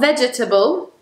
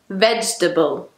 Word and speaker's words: vegetable: The same goes for number 7, which is not vegetable, vegetable.